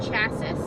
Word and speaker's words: chassis: The steel space frame chassis comes to an abrupt...